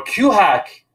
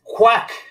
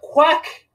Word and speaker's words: QHack: talks at q hack have been great or q hack is awesome the music and the 80s theme